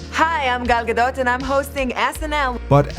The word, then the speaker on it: Gal Gadot: Hi, I'm Gal Gadot and I'm hosting SNL.